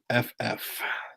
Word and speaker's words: Banzhoff: Banzhoff. The H is silent, so find that.